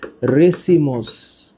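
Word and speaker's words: racemose: এখানে উচ্চারণটা একটু মনে রাখো। একটার নাম হচ্ছে রেসিমোস। একটার নাম রেসিমোস। আরেকটার নাম সাইমোস।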